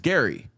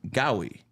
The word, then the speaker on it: Gary: comes down to it, my name is Gary. Obviously, there's a R in there. Yeah. So, I used to pronounce my name Gowi and people Oh, you